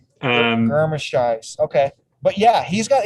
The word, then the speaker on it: Germishuis: I thought it was Germishoy, but I have no idea. Oh, okay, the Germ makes sense. The Germ. Germishuis.